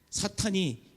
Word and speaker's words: 사탄: 그래서 발음 잘해야 돼요. 사탕이 아니고 사탄입니다. 사탄.